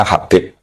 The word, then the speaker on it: Habib: Itu di harakatnya kitab itu ada yang nulis khubab. Tapi yang benar Oh, nggih. Yang benar itu bacanya Habib.